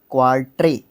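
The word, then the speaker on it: quatre: spelling लिख देता हूं क्यू यू ए आर टी आर ई क्वा ट्रे ठीक है क्वाल्ट क्वाल्ट का मतलब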